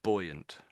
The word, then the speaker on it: buoyant: So buoyant, buoyant. That's where the Buoyant. word comes from. So it's Buoyant. basically buoy and then ant stuck on the end as a sound.